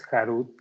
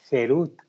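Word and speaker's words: חירות: No pronuncies jarut, que es tallado, sino más bien jerut, que es libertad, para mostrar que ellos fueron librados del ángel de la muerte.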